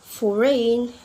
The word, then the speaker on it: foreign: So a letter G can be silent too when the letter comes before N. For example, like sign, campaign, design, foreign. Yep, we not pronounce the letter G, right?